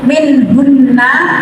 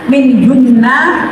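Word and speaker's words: منهن: yang huruf gunah yaitu minhunna tulisannya minhunna tapi cara bacanya minhun tidak minhun saja tapi digemungkan minhun empat harakat minhun ya karena ada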